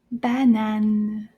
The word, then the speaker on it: banane: This is our first French word, and it's called banane. Banane. In French, in English, it's the banana, but in French, it doesn't end with an A sound. So, banane, banane.